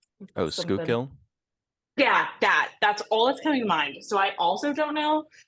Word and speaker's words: Schuylkill: Literally all I'm thinking about is this river in Pennsylvania that's spelled one way but pronounced a very different way. It's like skull. Oh, Schuylkill?